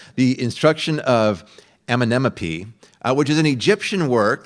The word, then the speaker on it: Amenemope: It's the instruction of Amenemope. I always want to say like LMNOP, like the letters, but it's very close to that, but not quite. The instruction of Amenemope, which is an Egyptian